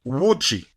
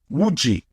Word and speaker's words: wuji: The word would be wuji. So this is how you say horse, wuji. Wuji. Because there is no H, it becomes W. There is no O, it becomes U or double O as in U.